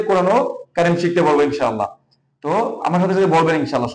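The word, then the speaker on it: ت: এখানে আমরা অনেকে ভুল করি ত উচ্চারণ করাতে, যেহেতু আমরা ত বলি, ঠোঁট গোল করে ফেলি। না, ঠোঁট গোল করা যাবে না।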